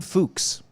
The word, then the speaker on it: Fuchs: story was based on an account from jordan fuchs that was dangerous i know i looked it